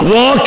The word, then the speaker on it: walk: Walk يعني يمشي وهتلاقي letter L silent.